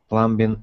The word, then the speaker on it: plumbing: Plumbing is. Spencer Tracy, actor. Mm-hmm. And this word, the B is silent, so it sounds like plumbing.